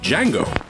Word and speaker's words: Django: The director introduces a heroic, emancipated slave named Django. The D is silent.